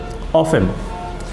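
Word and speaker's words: often: তাহলে he does not come here অফেন, সে এখানে প্রায়ই আসে না। অফেন, আবার তোমরা অফটেন মনে করো না এখানে, কারণ টির উচ্চারণটা হয় না, অফেন।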